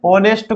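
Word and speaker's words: honest: is Khalistan ऑनेस्ट मैन ऑनेस्ट को ऐसे पढ़ते एच साइलेंट रहता है ऑनेस्ट तो ऑनेस्ट में आ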